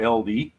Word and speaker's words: Aldi: You know, our our Aldi or LD as it's properly pronounced because it's a German company.